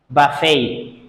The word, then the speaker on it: buffet: you pronounce that correctly this is Buffet like bokeh T at the end of the word does not pronounced what about this word